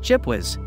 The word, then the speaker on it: GPWS: was termed ground proximity warning system gpws often pronounced chip wiiz one major shortcoming of the system was a